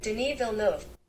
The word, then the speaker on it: Denis Villeneuve: I'm gonna look up how to pronounce that real quick. Denis Villeneuve.